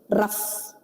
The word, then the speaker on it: rough: For example, if I say rough, I spell it as ROUGH. Yes. Okay. GH is silent, right?